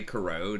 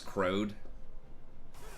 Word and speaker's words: corrode: So he was trying to say corrode, and he spelled it C-O-R-R-O-D-E. R-O-A-D. Kind of like toad, but it was crowed instead of corrode.